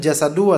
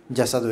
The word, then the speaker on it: الجسد: Fasadal jasadu atau jasad di antum? Jasadu itu yang tepat. Ini salah ini.